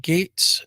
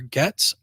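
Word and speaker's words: Gaetz: bersett republican from Tennessee Matt Gates uh or gets I believe that's pronounced republican from Florida Jared moscowitz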